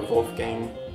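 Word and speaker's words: Wolfgang: actually the same guy Wolf Gang folk or Wolf Gang if you want to pronounce it as the in Germany but the album there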